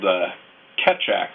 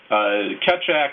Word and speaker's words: Keccak: and that had been whittled down is called Keccak, I believe is how it's pronounced.